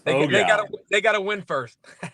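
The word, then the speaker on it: Eau Gallie: And Baylin, one day I'm going to get you to pronounce it correctly. It's O'Galley. It's O'Galley.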